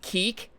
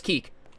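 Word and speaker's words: Kik: I thought it was pronounced kick too. I did too for the longest time, and then I got made fun of mercilessly by Zoomers who were like, it's pronounced keek.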